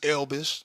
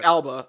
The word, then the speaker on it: Elba: Or Idris Elbish.